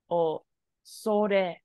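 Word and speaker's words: 恐れ: So this does kyo show up in the word for dinosaur, which is kyoryu, but this is pronounced as oso. O sore. Osore.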